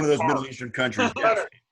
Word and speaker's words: Qatar: Or Qatar. Yeah, it's in one of those Middle Eastern countries. Qatar.